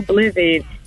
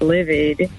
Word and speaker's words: livid: And then when I learned that anytime I hear anybody else say, "Oh, I'm so blivid," I'm be cringing because I'm like, "Oh, it's livid." Like, you're really upset.